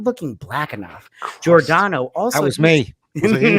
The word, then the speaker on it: Giordano: Giordano.